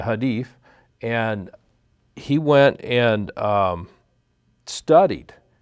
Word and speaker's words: Hadith: He went and got a Quran, read the Quran, read the writings of Muhammad, the Hijab, I pronounced that wrong, the Hadith, and he went and studied, and he said, oh, this is our enemy.